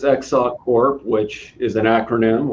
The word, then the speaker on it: XSOC CORP: Did I pronounce it right? Let me hear you say it. XSOC CORP. All right. Sure, it's XSOC CORP, which is an acronym, like everything in this industry, for Extensible Secure Optimized Cryptography.